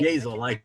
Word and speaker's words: Yazel: Hazel, Hazel. like Hazel with a Y is what I tell Hazel with everybody.